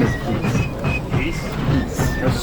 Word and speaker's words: Hees: And according to his dad, it's actually pronounced Hesse. Which, if you're in Germany, isn't terribly far off. The German pronunciation of my name is Hesse.